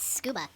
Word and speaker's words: Tsukaba: abducting boys for the Tsukaba Lab, which happens to be like 2 blocks away from the orphanage. They pronounce it scuba.